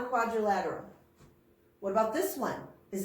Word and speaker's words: quadrilateral: try that with me quadrilateral it has five syllables one more time you try it quadrilateral good a quadrilateral is